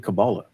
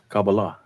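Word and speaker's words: Kabbalah: and I was even studying cabala kabala I think they pronounce it that's not Christian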